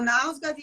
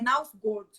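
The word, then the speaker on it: Knausgård: pode me corrigir, mas parece que o jeito certo de falar é Nausgard, mas ninguém no Brasil fala assim.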